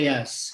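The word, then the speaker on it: Jász: It's Attila Yas.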